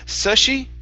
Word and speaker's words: sushi: uh last one here instead of sushi it's Sue sushi sushi good good all right nice